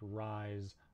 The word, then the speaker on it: rise: And there's also some words that end S-E, where it's actually a Z sound, like rise, pose, and confuse.